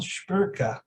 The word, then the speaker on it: Szpyrka: about all that and i'll introduce you kyle schperka how's it going yeah good i'm good i like the pronunciation you you told me about the original